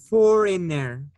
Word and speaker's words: foreigner: is foreigner. Foreigner. Foreigner. Foreigner. Listen, foreigner, foreigner. Foreigner. Foreigner. Foreigner. Yes. We don't pronounce the I. We don't say foray, no. It's foreigner, foreigner.